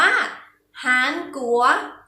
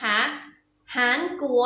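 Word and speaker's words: 韩国: แล้ว ค่ะ ใช่ แล้ว ประเทศ นี้ ออก เสียง ว่า หาญ กลัว อีก หนึ่ง ครั้ง นะ คะ หาญ กลัว หัว สุด ยอด มี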